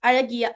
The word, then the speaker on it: Azhagiya: Alagiya means, now the ZH, how to read the ZH is R in Tamil. So many of you may be able to pronounce or not. It's Alagiya.